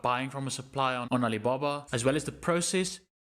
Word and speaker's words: Alibaba: This brand name comes from the name of the folktale Alibaba and the 40 Thieves. So, this brand is pronounced exactly the same way, Alibaba.